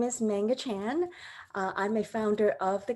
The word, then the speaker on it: Man Nga Chan: Mani Chan is our speaker. Did I say it right? It's Manga Chan.